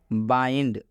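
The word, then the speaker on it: bind: Last समझ लीजिए, बाइंड। बाइंड का मतलब होता है बांधा। आप देख सकते हैं बाइंड में भी आई के बाद से एन डी आया है, और जब भी आई के बाद से एन डी आता है तो इस आई का उच्चारण आई होता है।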